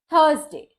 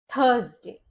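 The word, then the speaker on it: Thursday: bird थर्सडे थर्सडे में आर के बाद आता है एस फिर से कंसोनेंट साउंड तो आर साइलेंट रहेगा शब्द सही प्रोनाउंस होगा ऐसे थर्सडे थर्सडे ज थर्सडे अब कुछ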